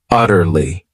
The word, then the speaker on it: utterly: another great adverb utterly this word has three syllables and the stress is on that first syllable utterly it means completely totally